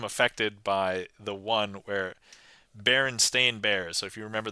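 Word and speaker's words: Berenstain: Um, but yeah, so I here just so Baron Stain Bears is actually spelled like this. Baron Stain Bears.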